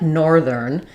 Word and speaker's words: northern: So nor is going to be longer, thern is going to be shorter.